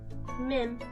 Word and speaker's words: Mim: There's our he again to mim. It's just mim cuz that's my name. So that's just how it's pronounced.